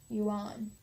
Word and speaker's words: Yuan: dynastic title the Yan spelled why you a and I'm gonna say un yuan although he was still